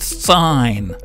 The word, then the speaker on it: sine: It's spelled S-I-N, but it's actually pronounced sine.